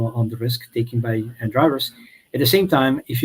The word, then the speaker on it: dreyev: Store and searches for Dre EV is that right yeah we pronounce it drive uh you see the